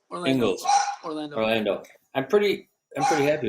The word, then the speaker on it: Ingles: Ingles. Ingles.